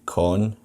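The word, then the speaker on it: Cohn: If you could spell it out for me, that would be great. Yeah, it's Con.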